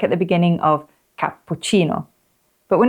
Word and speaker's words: cappuccino: at the beginning of cappuccino. But when it's followed by the letter I or E, it's a soft ch, like in the last part of cappuccino. Cappuccino.